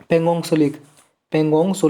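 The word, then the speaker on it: Pangong Tso: पोंग सो lake is an endorheic lake in the Himalayas. Endorheic lake है क्या जी हिमालयाज में, पोंग सो lake, पेंगोंग सो lake, T silent है जी इसमें।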